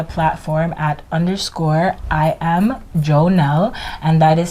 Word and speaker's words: Jônelle: single social media platform at underscore i am joe nell and that is spelled underscore i a m j o n